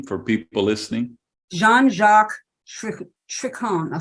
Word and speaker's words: Trochon: Jean-Jacques Tricon, I'll spell it, Trochon. Jean, Jean - Jacques, JACQUES, Trochon.